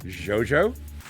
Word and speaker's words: JoJo: is because in italian in the italian alphabet they've only recently adopted the letter j a from the english alphabet it didn't actually have j so you would actually pronounce g i o as joe right so it's jojo and it's like again